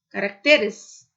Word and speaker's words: caracteres: Caráter, caracteres.